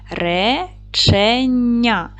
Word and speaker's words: речення: цього слова Давайте перевіримо поділимо слово на склади речення наголос падає на перший склад Отже р твердий приголосний